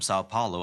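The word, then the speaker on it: São Paulo: When will our flight from Sao Paulo arrive in London? 자, when will our flight from 상파울로죠. 영어로 이제 사파울로라고 읽고요.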